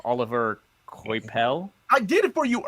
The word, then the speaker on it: Coipel: the early works by, and I'm going to mispronounce his name, Oliver Coipel. I did it for you earlier. Yeah, Weren't no, you paying I know. attention? Quapel.